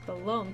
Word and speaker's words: Blom: occasion you may see you may see someone pronounce it bom but the proper way is belom to hear to pronounce